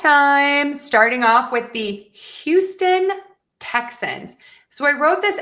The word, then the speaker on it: Houston: So, just kind of keep that in mind that some people will drop the H. So, let's put this all together and practice each syllable and then we'll do the words together. Houston, Texans.